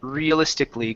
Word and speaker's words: realistically: If a word ends with an ICAL, ALL, something like that, you only want to pronounce ikli. We don't say ikali, it's ikli.